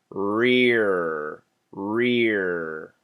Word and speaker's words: rear: If you're not pronouncing the R's, it sounds like eh. So this is tough. Rear, rear. Can you hear that very clear R sound?